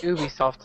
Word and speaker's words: Ubisoft: idea oh man uh Ubisoft is kind of learning from Ubisoft did you see Ubisoft Ubisoft it's it's Ubisoft it's like it's like the word you UB ubis Ubie yeah